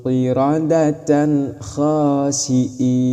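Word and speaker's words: قردة خاسئين: Contohnya, kunu qiradatan khasiin. Kunu qiradatan khasiin. Seperti itu cara membacanya. Harus qiradatan khasiin. Tanwinnya harus jelas, kha-nya harus jelas. Ketika tanwin mau masuk ke kha harus jelas, bukan samar ataupun dengung.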